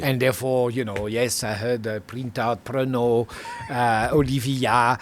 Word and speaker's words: Prentout: How do you pronounce it? Olivier Yeah. Prentout.